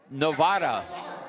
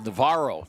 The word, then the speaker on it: Navarro: Nice move down the court, and the personal foul goes against Novara. I'm trying to, let me get the right pronunciation of that name. It's Navarro. Navarro, I beg your pardon.